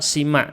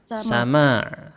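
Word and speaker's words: سماع: Tidak ada kata sima, tidak ada itu. Yang benar apa? Sama. Tidak ada sima ya. Ini kesalahan kaprah di Indonesia banyak. Bilangnya sima, tidak ada. Di kamus manapun tidak disebut sima, dibacanya sama. Sama'a qabulin terus Bukmun la yang tekuna bihi.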